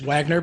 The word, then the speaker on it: Wagner: i mean it is wagner but it's wagner because it's the german pronunciation that's a long story